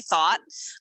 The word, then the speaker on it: Thoth: She always says, so for those of you guys that are listening and you're wondering who the heck is Candace Thought, and it's spelled THOTH.